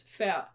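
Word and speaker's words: færd: So you don't really pronounce the d. So f a r d. You don't pronounce the d. So it's uh it's fair.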